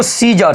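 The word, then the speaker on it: scissors: पढ़ेंगे अगला देखिए इसको सीजर सीजर मेंस क्या होता है तो कैची होता है सीज ये देखिए एस के बाद आया सी हमारा बिल्कुल क्या होता है तो साइलेंट होता है ये भी आप सिख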